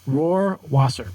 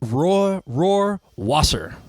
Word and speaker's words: Rohrwasser: Rohrwasser. Rohrwasser. Yeah, it's like the lion. Rohrwasser.